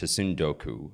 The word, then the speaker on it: tsundoku: There's a word in Japanese that I think is pronounced tsundoku, which literally means buying reading materials and piling